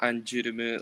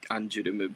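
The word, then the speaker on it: ANGERME: So there's one called Anjurumu, like they're the kanji, or I mean the hiragana pronunciation would be like Anjurumu, but in English it looks like anger me. Hmm. But I like Anjurumu a lot.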